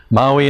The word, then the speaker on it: Maui: Maui not the island Maui the uh the uh in fact it's Maui if you want to pronounce it right uh the uh